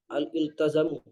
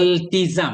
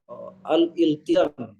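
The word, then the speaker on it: الالتزام: Agama pada bahasa al-iltazamu itu tanggungan atau kewajiban. Kewajiban Iltizam bacanya. al-iltizam, al-iltizamu Ya.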